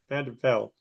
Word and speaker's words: van der Byl: Vanderbilt. You can pronounce your last name because I butchered it, but say hello. Hi, it's Vanderbil. Vanderbel.